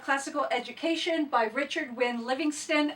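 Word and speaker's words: Livingstone: education by Richard wi Livingston and it's O NE e so I want to say Stone because phonetically speaking that's what it's supposed to be anyway so I probably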